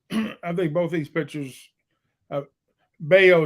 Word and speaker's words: Bello: Bayo is how you say his name. All my family Canada, their name is Bello, so they spell it the same way. That's why I laugh every time I hear the way they say it.